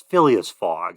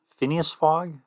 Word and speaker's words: Phileas Fogg: It's Phileas Fogg. I don't know how to spell it, but Phineas Fogg?